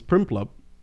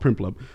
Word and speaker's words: Prinplup: It becomes Primplup. Primplup. Primplup. So many P's. So many. And then an RINPL is a really weird Primplup. It's a really weird way to say that. So it's spelled PRINPLUP.